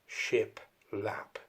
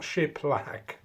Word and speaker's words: shiplap: Anyway, this is, and I will say it correctly this time, shiplap, not shiplack, or the other one that you can end up saying.